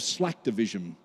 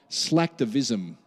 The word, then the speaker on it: slacktivism: called a form of slack division slack Division I can't even say it properly slacktivism how do I say that again